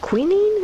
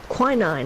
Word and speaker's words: quinine: has queening in it queening is that how you pronounce that quinine there we go so it's quite bitter